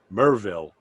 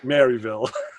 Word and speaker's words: Maryville: it's maryville but he says no ray it's pronounced merville so i was like all right he says get that right it's mervill it's not maryville like learn your southern uh you know so